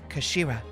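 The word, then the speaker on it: 頭: It's pronounced as kashira, I believe.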